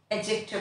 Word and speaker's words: adjective: भी बताती चलूं कि अंग्रेजी जबान में जहां कहीं डी और जे इकट्ठे होंगे वहां पर डी की आवाज साइलेंट हो जाएगी और हम जे की आवाज को बढ़ा देंगे। सो हम इस वर्ड को एडजेक्टिव नहीं बोलेंगे, इस वर्ड को हम एडजेक्टिव बोलेंगे।